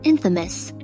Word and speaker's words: infamous: Pronunciation plays a big role, especially with words like famous, famous versus infamous, infamous. Subtle vowel shifts and schwa sounds can blur the lines, especially in fast or informal speech.